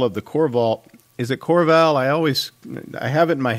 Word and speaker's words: Korval: Is it Korval? I have it in my head as certain something, but I don't know if I pronounce it correctly. It's Clan Korval.